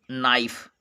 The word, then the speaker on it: knife: इसको बोलेंगे नाइफ। नाइफ means चाकू। इसको नाइफ। जो क्या साइलेंट होगा, इसको हम क्या का उच्चारण नहीं किया गया है।